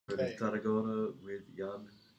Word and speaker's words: Jan: And the first name is Jan. Yeah, okay. It's actually Jan. Like you're yawning, but yeah.